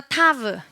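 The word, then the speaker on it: תו: 한 번 더 타브. 네, 타브의 발음은요. 트입니다. 트. 따라해볼까요? 트. 네, 발음은 트이고요.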